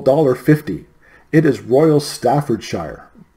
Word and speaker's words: Staffordshire: fifty it is Royal Staffordshire Staffordshire Staffordshire not Staffordshire I'm Canadian I should know how to pronounce British names Royal Staffordshire pottery it